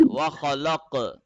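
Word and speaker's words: خلق: In the case of cough, we will produce the sound at the end. Wakhalak.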